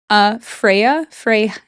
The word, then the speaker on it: Freyja: Norse mythology, Freya, it's spelled Freja, but Freya and Freyja are the same.